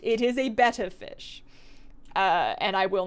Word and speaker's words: betta: The technically correct way to pronounce the fish is betta fish. It is spelled with 2 T's. It is the fish. It is not the Greek letter. It is a betta fish and not a beta fish.